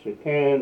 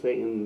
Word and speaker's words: Shahtan: But he feels that if you pronounce it in this particular sense, in the particular way of saying Shahtan as opposed to Satan, that it doesn't bring